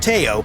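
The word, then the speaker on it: TAO: Back on the destroyer, the tactical action officer, pronounced Teo, had bigger problems than a broken schedule.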